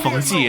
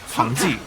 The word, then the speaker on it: Pang De: It's not Pang De, it's Pang De, but Xu Chu's name has been wrong since forever, so I'm struggling with the counter on this one.